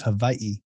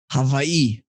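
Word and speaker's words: Hawaiʻi: get technical the the w's here are actually pronounced as a v so it's hawaii hawaii hawaii okay i'll bear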